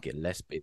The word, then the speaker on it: Gillespie: Gillespie.